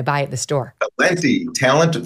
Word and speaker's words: Talenti: Talenti. Talent with an I. It's very easy to remember.